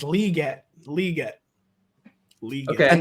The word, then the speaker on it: Legette: he he already has no one said it's Lee no since the summer saying it's liette Le get Le okay